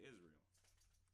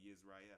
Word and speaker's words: Israel: But here in America, we say Israel, or Yisrael. I think that's probably how you're supposed to say it.